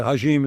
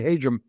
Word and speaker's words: Hajim: It's hard to pronounce. Everybody wants to make a hashim. It's really Hum.